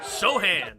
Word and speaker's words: Sochan: How about Sochan or Sochan? Pass. Sohan. That's how you say it.